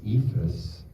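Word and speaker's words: Eephus: so I just did a baseball movie called ephus um that's how you pronounce it and it's kind of set on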